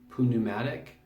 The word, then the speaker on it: pneumatic: I guess the Greeks pronounce this pneumatic, whereas we would probably say pneumatic. But I looked into it and it sounds like they actually pronounce the P.